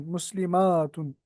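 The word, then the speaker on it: مسلمات: एंड द ता is open मुस्लिमातुन। In pronunciation, the only difference between the singular and the plural is the shortness and length of the fatha.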